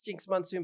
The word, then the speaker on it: Jinkx Monsoon: But it's Jinkx Monsoon, but it's spelled Jinkx. Don't forget the K.